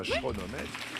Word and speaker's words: chronomètre: Et ben oui, ça se Bah oui, c'est un K CH mais on un chronomètre.